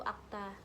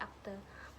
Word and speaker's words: akta: Contohnya adalah akta dalam lafal baku itu akta, dalam lafal tidak baku itu berubah menjadi akte, dan dalam bahasa Indonesia